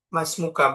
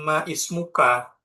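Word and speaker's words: ما اسمك: Misal ismun ini kalau sendiri ismun tapi kalau disambung masmuka, maka bacanya masmuka, bukan ma ismuka tapi dibaca masmuka karena hamzahnya itu hamzah wasal.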